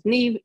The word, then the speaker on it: Niamh: My name is Niamh. It is pronounced Niamh, even though it's spelled N-I-A-M-H. It's a good Irish name.